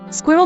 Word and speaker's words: squirrel: Phonetically, squirrel may actually be 1 syllable or 2, probably in part due to uncertain syllabification of word final vowel after bar.